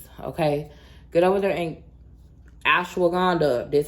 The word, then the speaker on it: ashwagandha: Get over there and get you some of these ashwagandha gummies, okay? Get over there and ashwagandha.